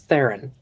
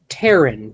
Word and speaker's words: Theron: It is Theron. I've gotten Terran, Teron, Theron, Theron. I've gotten so many different pronunciations.